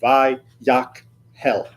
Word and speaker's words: Vayahkel: started the class officially, that K and the H, those are two separate syllables. They're not a guttural letter like sometimes you'll see in transliteration where they'll put a KH together to make the ch. That's not what that is. This is Vayahkel, right?